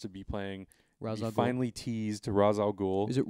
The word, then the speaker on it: Ra's al Ghul: No, I don't know what they're gonna call it, but I know that Ra's al Ghul is the incorrect pronunciation.